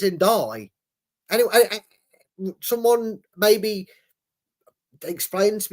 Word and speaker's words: Ndidi: Why are they calling him N'Chai? There's no C or H in his name. It's Ndai.